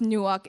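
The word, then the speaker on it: נוּחַ: is so Noak okay so this is pronounced Nook it means to cause to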